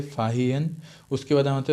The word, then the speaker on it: Fahien: फाहियन का स्पेलिंग में बता देता हूँ, FAHIEN, प्रोनाउंसिएशन भी ऐसा होगा, फाहियन, ठीक है।